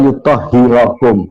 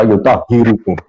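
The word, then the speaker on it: يُطَهِّرَكُمْ: Innama yuridullahu liyudhiba ankum ar-rijsa ahlal baiti wa yutahhirakum. Beliau membacanya wa yutahhirukum. Beliau membacanya wa yutahhirukum. Salah dalam membaca.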